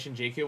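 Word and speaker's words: Shinjuku: Apparently, in the Shitamachi dialect, Jew is often pronounced G. So some game romanization spell it Shinjiku where it is pronounced by someone from the working class.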